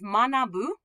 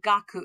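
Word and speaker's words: 学: So this kanji means manabu. Manabu means to study, to learn. Or it's pronounced gaku, and we've seen it as gakusei or gakko.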